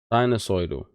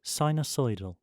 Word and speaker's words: sinusoidal: Can we find out how to pronounce that word? Oh, sine. So that's to do with sine, right? Let's hear it. Sinusoidal.